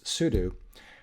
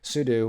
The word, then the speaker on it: sudo: it the end but this is soo do because it's soo whatever that means and then do something okay so like the verb do so the usual pronunciation is soo do and you can look